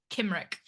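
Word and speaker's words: Cymric: I'm going to go Is it Kimrick or Simrick? I think I'm pretty sure it's a hard C at this point in time in history. Kimrick.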